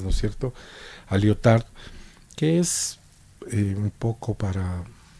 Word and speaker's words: Lyotard: particular a Jean-François Lyotard, pronunciemos el nombre de él en francés, él es francés, ¿no es cierto?, a Lyotard, que es un poco